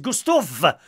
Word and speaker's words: Gustav: Good morning to Gustav. Gustav with a V.